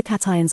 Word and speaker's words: cation: the soil water those cations will force other cations off the colloid and take their place the